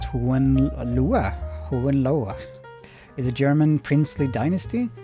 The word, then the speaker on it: Hohenlohe: The House of Hohenlohe, pronounced Hohenlohe, is a German princely dynasty.